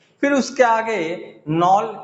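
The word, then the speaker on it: Knoll: फिर उसके आगे नॉल के साइलेंट रहेगा, नॉल एंड रस्का, ठीक है, या रुस्का भी बोल सकते हैं, रिस्का मत पढ़ लीजिएगा, रस्का या फिर रुस्का।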